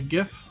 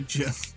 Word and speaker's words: GIF: was the original pronunciation i used to call it a gif but apparently it's supposed to be jim hey whatever man okay